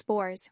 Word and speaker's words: Boer: When they moved out into the veld to escape the English, they called themselves Boers, which simply means farmers. It is pronounced Boer, by the way, as I had to learn.